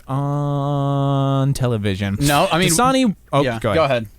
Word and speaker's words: Dasani: I know how to say this, but what's that water company that Dasani? Dasani? Okay. I never hear that one advertised. I guess water's not advertised that much on television. No, I mean Dasani.